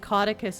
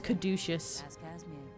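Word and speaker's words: Caudecus: Ever the cynic, you know, before I knew that Codicus is how that's pronounced, I kept thinking his name was Kaducious.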